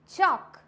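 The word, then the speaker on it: chalk: वॉक, चॉक, ये क्या है? एल यहाँ पे साइलेंट है।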